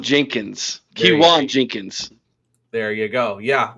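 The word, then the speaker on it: Keyone: Of course, we're talking about Kon or Man, I just butchered it, didn't I? Uh Kiwon Jenkins. Kiwan Jenkins.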